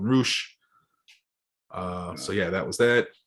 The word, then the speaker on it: Rush: I guess his name is Roosh, which is spelled like Rush, but they call him Roosh.